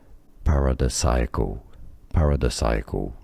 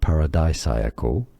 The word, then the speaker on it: paradisiacal: Paradisiacal is your safe bet, but you can also say paradisiacal or paradisiacal or paradisiacal as well.